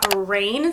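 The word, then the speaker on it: Raine: The next name is Rain, spelled R-A-I-N-E, and this name in particular actually comes from an anime.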